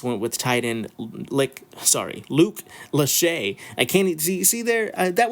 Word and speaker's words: Lachey: I don't want them knocking on my door, saying, "So you think my name is Lick, huh?" No, Mr. Lachey.